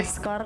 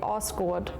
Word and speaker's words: Asgard: Finland we would say this ascar. In Iceland we say Oh. I was so surprised. In Sweden, we would say Oscord.